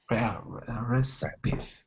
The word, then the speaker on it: recipes: recipes recipes yes yeah that's a tricky word it definitely looks like it it it does not look it is not spelled like it sounds I I understand that recipes it's actually a three syllable word recipes recipes recipes recipes